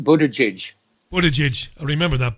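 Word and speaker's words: Buttigieg: in the polls anyway and it's pronounced Budaj what a judge remember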